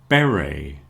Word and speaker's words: beret: lot of cases, but one thing we all agree on is we don't pronounce the T. So beret buffet or buffet cabernet